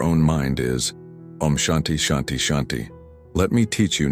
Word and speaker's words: Shanti: The mantra that will transform your relationship with your own mind is omanti shanti shanti. Let me teach you not just how to pronounce these sacred words but how to awaken their full power.